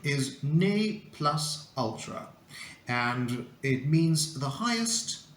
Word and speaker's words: ne plus ultra: right number five here it comes uh the pronunciation is NE plus Ultra and it means the highest or or the